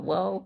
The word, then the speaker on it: whoa: Whoa is one of those words, you can take the letters and permute them any way you want, and it's still pronounced whoa. You could do HOWA, and it should be pronounced whoa, according to Merriam-Webster. No kidding. Yes, it's one of the very few chameleon words where permutations don't affect the pronunciation at all.